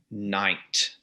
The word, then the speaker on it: knight: There's 6 letters in that word, K-N-I-G-H-T. We only pronounce 3 of them, the N, the I, and the T. Right. The K, but it would have been pronounced Knecht at one time. So you would have had a K sound at the front. That GH in the middle is a kind of that guttural sound that English has lost over time.